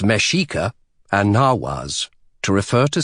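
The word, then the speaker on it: Mexica: I use the terms Aztec, Mexico, pronounced Mashika, and Nawas, to refer to specific groups of people within the Aztec Empire.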